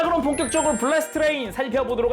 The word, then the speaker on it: 블래스트레인: 그리고 방금 매뉴얼에서 본 거지만 저는 블래스트 레인의 풀 네임이 블래스 띄고 트레인인 줄 알았는데, 그게 아니라 매뉴얼상 블래스트 띄고 레인이었다. 어쩐지 애니메이션 보는데 성우님이 블래스트 레인이라고 발음하시더라고요. 블래스 트레인이 아니라.